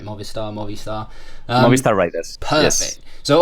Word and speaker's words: Movistar: And I hope I'm pronouncing that right. Movistar.